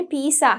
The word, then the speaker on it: pizza: හැබැයි ඒක actually අපි ඉංග්‍රීසියෙන් කියනකොට pizza සා එකක් නෙවෙයි තියෙන්නේ, EZ එකක් තියෙන්නේ. So you have to say it properly. හරියට අපි ඒක pronounce කරන්න ඕනේ. It's pizza. Pizza.